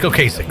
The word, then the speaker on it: Ocasek: Rick Ocasek, rest in peace.